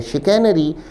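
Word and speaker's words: chicanery: विद्यार्थी शब्द के उच्चारण पर भी ध्यान दें। उच्चारण है शिकैनरी हिंदी में वाकछ छल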